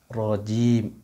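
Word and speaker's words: رجيم: মিনাশ শাইতানির, মিনাশ শাই হবে না, মিনাশ শাইতানির রাজিম, রাজিম হবে না, রাজিম বলেন অনেকে, রাজিম হবে না, র হবে, রজবর র, রজবর রা হবে না, জিম হবে না, জিম, রজিম, রজিম, রজিম।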